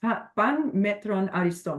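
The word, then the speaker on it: Πᾶν μέτρον ἄριστον: It's it is pronounced pan metron ariston, which basically means everything in moderation, and ensure we're avoiding the extremes.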